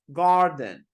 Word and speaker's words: garden: say Garden charge starter R is silent in British English I don't correct you